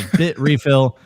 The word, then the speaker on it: Bitrefill: He is the Chief Business Development Officer of Bitrefill.